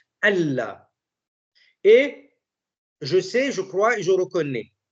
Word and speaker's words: Allah: La signification de Ashhadu an la ilaha illallah, c'est bien, an la ilaha illallah, voilà, ça se prononce normalement Allah.